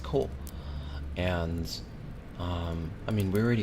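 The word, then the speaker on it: 口: It's pronounced ko. If I remember correctly, it's pronounced ko.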